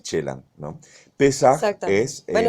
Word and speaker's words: Celan: Entonces invierte es un anagrama y lo pone, por eso la pronunciación es Chelan, ¿no? Pesaj Exactamente. es Bueno, en los franceses le hebreo. dicen Celan, yo por eso Sí, me sí, sí, sí.